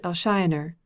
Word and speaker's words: Elshioner: Belle, and that if little Sanders Elshioner, which is the Thrums pronunciation of Alexander, went in for her, he might prove a formidable rival.